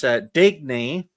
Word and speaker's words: Digny: Well, my future plans are to educate this entire panel how to pronounce my name. It's Digny.